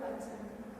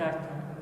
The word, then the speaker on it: বাচ্যার্থ: সেটা হলো ওই শব্দের বাচ্চা। বাচ্চা? বাচ্চা বাচ্চা কি বলছে? বাচ্যার্থ। বাচ্যার্থ, ভালোভাবে বলো, বাচ্যার্থ।